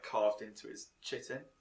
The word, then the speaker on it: chitin: like carved into his chitin yeah kiten you pronounce it um and uh he's